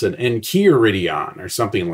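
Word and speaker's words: Encheiridion: someone might pronounce it Enchiridion or something like that. But in Greek, the EI is an eh sound, so I don't know.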